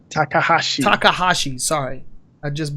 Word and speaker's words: Takahashi: mountain lover and that is VentureBeat journalist Dean Takashi Takahashi takahashi sorry I just butchered that okay so have you ever have